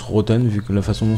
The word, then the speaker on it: Rottne: 20-f 20d alors lui me semble que ça se prononce rothen vu que la façon